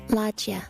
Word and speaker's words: loggia: Here's the pronunciation. Loggia.